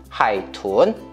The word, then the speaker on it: 海豚: 자, 그러면 내가 생각하기에 我觉得 돌고래는 하이툰 너보다 비니 똘똘하다 총밍. 자, 이렇게 하면 되는 거예요. 자, 제가 한번 발음하겠습니다.